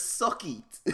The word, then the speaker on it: Suqeet: His name is Suckeet, but it's spelled Suqeet, bruh.